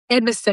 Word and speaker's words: Edmiston: Edmisten? Edmisten, exactly. The emphasis is on the Ed, and usually it'll flow from there.